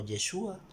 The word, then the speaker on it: Yeshúa: esta razón es que se pronuncia en arameo yeshua y cuando lo cambian